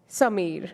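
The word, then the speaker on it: Sameer: name is s a m e e r Samir very nice claps to you all that worked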